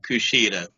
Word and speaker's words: Kushida: I'm gonna try not to butcher your name, but Kushida.